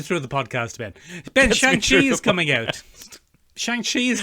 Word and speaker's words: Shang-Chi: Chief among them, I suppose, is Shang-Chi. Shang-Chi, I believe, is the best way to say it. Shang-Chi, is that how it's pronounced?